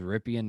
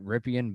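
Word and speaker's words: Rypien: I think his last name is Ripien, is how you say it.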